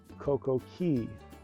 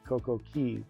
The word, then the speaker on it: Coco Cay: Before the facelift of Perfect Day, Royal Caribbean pronounced it Coco Key, which is the correct pronunciation of the Keys.